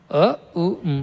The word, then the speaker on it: Om: Les diré que el Om está compuesto de tres cosas. A... ...U y M. No "Ma", sino "M". A-U-M. No lo canten como Aaauuumm.